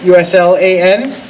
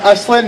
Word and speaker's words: Uslan: hi yes uh my my last name is uh uslan uh not us not Aslan not uslin uslin um if you pronounce